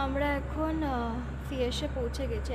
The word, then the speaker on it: Fiesch: তা আমরা এখন ফিয়েসে পৌঁছে গেছি। অ্যাকচুয়ালি ফার্স্টে এই জায়গাটার প্রোনাউন্সিয়েশনটা ভুল জানতাম, লাইক আমাকে বলছিল ফিশ, বললাম আচ্ছা ফিশ বলে জায়গা হয়। অ্যাকচুয়ালি স্পেলিংটা হচ্ছে FIESCH, রাইট? এটা হচ্ছে ফিয়েস।